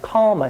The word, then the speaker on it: calma: Romans who adopted the Greek shepherd word pronounced it calma, C-A-L-M-A.